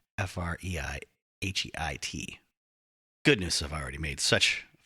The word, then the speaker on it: Freiheit: Sorry, Americans can't help but go, Freiheit, Freiheit. It's probably something more aggressive. Freiheit. Freiheit. Yeah, there's no R in there. I totally mispronounced it. Freiheit.